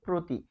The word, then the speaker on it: প্রতি: ফলে এটি হচ্ছে প্রতি।